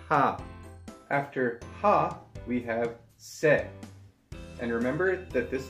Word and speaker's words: 세: After ha, we have se. And remember that this letter is pronounced eh, not a, so it's not the same as say, it's like set without the T.